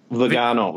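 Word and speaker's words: Viganò: What did you think of, how do you pronounce it, Vigano? Vigano.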